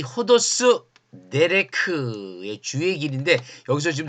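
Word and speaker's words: ὁδός: 이 네레크란 말의 번역어가 바로 호도스예요. 호도스. 길이다. 길. 요 ODOS인데 요거 거꾸로 되어 있는 거 쉼표 거꾸로 되어 있는 거 후 발음 난다 그랬죠.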